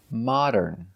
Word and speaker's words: modern: Modern. Modern. So it's not correct to say this. They're modern and cool. That's right, we cannot say modern, mo. It's not the long O, mo.